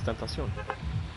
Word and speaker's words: Tentacion: It's Tentacion. You've never heard him pronounce his own name?